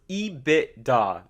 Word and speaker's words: EBITDA: It's pronounced Ebitda. Ebitda. Don't call it EBITDA.